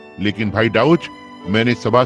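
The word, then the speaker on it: Daugh: डी ए यू जी एच और मैं बस डाउऊच करके उच्चारण करता हूं।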